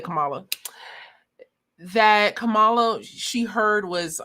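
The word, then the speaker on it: Kamala: I was waiting for you to start talking about it, but she mentions Camala and says, "Well, you know what? I hear Camela."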